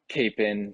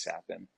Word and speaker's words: Capan: for them um so I've gotten Capen sapen uh kappen I've I've gotten all the above so I usually just kind of roll with whatever but the correct pronunciation is is sapin Frankie if you could